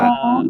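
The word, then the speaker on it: فاء: ফা ফা ফা ফা ফা ফা ফা তার মানে এর সময় মনে রাখতে হবে কি, আপনার দুই ঠোঁটের মাঝখান দিয়ে একটু বাতাস বেরিয়ে যাবে, ফা।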